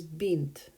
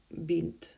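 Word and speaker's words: бинт: next word up is bent bent sounds like an arabic word for a girl paint bin too but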